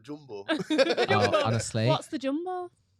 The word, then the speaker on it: Yumbo: Jumbo is like this big. Is it pronounced Jumbo? I've been saying Yumbo. Oh, maybe it is. Maybe Yeah, Jumbo. Maybe It's with a Y.